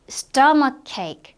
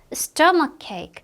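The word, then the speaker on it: stomachache: stomach cake. 자, 한스 stomach cake. 자, 여기에서는 CH가 지금 여기에도 있고 여기에도 있죠. 이거 둘 다 크로 발음 돼요.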